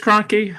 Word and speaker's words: Kroenke: Cronky, I Crunky. think it's Kroenke. He I'm doesn't not deserve positive. to have his name pronounced correctly.